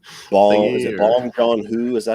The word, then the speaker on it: Bong Joon-ho: Is it Bong Joon-ho? Is that how you say his name? I think it's his name. Bong Joon-ho.